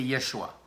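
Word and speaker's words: ישוע: Et en passant, le nom de Jésus, c'est Yahshua. Alors, je ne sais pas pourquoi est-ce qu'on l'a appelé Jésus, mais normalement, son nom prononcé, c'est Yeshua. Ça, c'est son vrai nom, prononcé.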